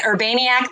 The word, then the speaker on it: Urbaniak: that last name yes so it's urban then iak right um so yeah yes exactly so you can say urbaniac the maniac whatever you need to